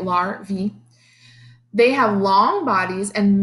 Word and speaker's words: larvae: caterpillars grubs and maggots are larvae lurvy like that it tells you how to say it larvae they have long bodies